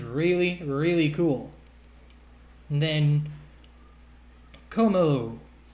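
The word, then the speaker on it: Kommo-o: And then Como. I don't know if the other O after the dash is silent, but you know, what can you do?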